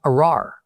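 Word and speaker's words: ארר: pronounced arar in Hebrew.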